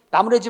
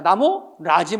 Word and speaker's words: 나무라지: 흔히들 바래다, 나무래다가 발음하기 쉽다 보니까 자꾸 사람들이 나무래지 마라, 바래지 마라 이렇게 말하고 그렇게 쓰는 경우가 있는데 잘못된 거야. 나무래지 마라가 아니라 시작. 나무라지 마라. 바래지 마라가 아니라 시작. 바라지 마라.